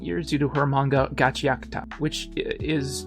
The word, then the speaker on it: Gachiakuta: Unlike what that guy said, it's not two separate words. It's Gachi and Akuta smashed together into one word.